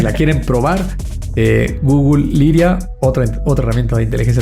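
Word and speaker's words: Lyria: Google, que se llama Liria 3. Se escribe L Y R I latina A 3, eh, como una lira.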